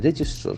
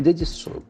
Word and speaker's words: register: They register. So register is under verb register. Since it has got more than one syllable, where should we have the accent? Register. Register. The accent falls on the first syllable.